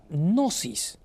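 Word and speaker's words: gnosis: en una palabra griega en la palabra griega nosis la palabra griega nosis que se escribe con gn no el y que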